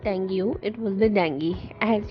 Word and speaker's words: dengue: So it's not U sound in the end of the disease.